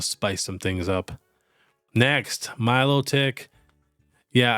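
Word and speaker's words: Milotic: some things up next Milo tick yeah I know it should be pronounced melodic but it's pronounced Milo tick which I cannot stand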